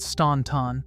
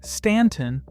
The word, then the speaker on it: Staunton: it said out loud, it isn't Staunton, the way it reads on a map. Locals say Stanton, with the U doing nothing at all.